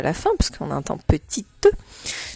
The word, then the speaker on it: petite: Et oui, il fallait écrire le mot petit, mais avec le E à la fin, parce qu'on entend petite. Souris, on se souvient du mot souris de syllabe, et on fait tout chanter, le S qui est mu à la fin.